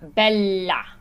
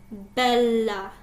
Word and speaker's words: bella: Bocca And then you have bella. bella. Yeah, so anytime those double consonants are there, hold those out.